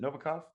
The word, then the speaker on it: Novikov: I'm here with Andre Novakov. Is that how you pronounce it? Novacov.